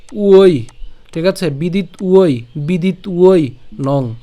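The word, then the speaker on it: বিদিত্বৈনং: সাথে কি আছে একটা ঐকার আছে তাহলে এটার উচ্চারণ কেমন হবে ঐ উই ঠিক আছে বিদিত উই বিদিত উই নং বিদিত উই নং বিদিত উই নং ঐ কেন এই যে ঐকার ছিল সেজন্য আর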